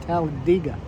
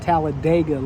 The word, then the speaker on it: Talladega: Talladega is actually pronounced Talladega it's not tallad dega like everybody says there's a e in there that's not pronounced with the a sound but everybody gets it wrong except the locals I used to work